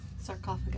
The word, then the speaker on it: sarcophagi: So Sarcophagi. That's how you say it, sarcophagi.